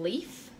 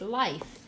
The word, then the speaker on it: Leif: with saying his name Leif Leif Ericson but if you it's pronounced life which is interesting um